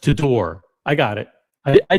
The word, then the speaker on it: Tudor: And uh tutor is pronounced tudor.